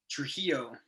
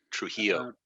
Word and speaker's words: Trujillo: Trujillo. Trujillo. Yeah, the two L's in Spanish is pronounced with a Y sound. Okay. So it's like Trujillo.